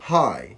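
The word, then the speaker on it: high: الكلمه دي هيكون برضو هاي هاي، لان الجي اتش لما بيجوا مع بعض بيبقوا سايلنت، يعني مش منطوقين او مش بيتنطقوا. كل الكلام ده في حاله لو حرف الاي جه الفاول الوحيد في الكلمه.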